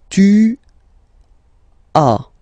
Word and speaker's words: as: Okay, second one, tu as. Okay, as usual in French, final S is not pronounced.